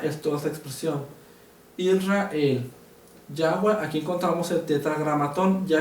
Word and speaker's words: Yahweh: Y si le damos la fonética correcta, vamos a ver que no coincide con el título convencional de Reina Valera Jehová, sino que coincide y la forma correcta de traducirlo es Yahweh.